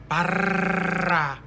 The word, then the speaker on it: Barra: Can you roll your R's? R's? Barra.